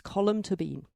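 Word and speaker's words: Tóibín: Brooklyn and she said it's to Bean it's column to Bean so the magician by column Tobin now I know now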